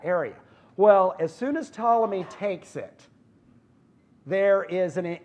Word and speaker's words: Ptolemy: Ptolemy p tol yet the P is silent would call them Ptolemy the first and this